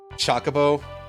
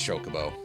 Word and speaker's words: Chocobo: I remember a lot of pronunciation of it as Shockabo when I was younger. Until eventually they started voice acting the games and then you could actually hear that it was properly pronounced Chocobo and then and then